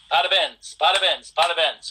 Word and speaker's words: parabéns: Parabéns.